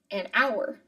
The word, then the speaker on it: hour: you sometimes why or this silent H sound and we have some examples of all these and egg and animal and apple an ice cream cone an hour and honor it's an honor to be teaching you English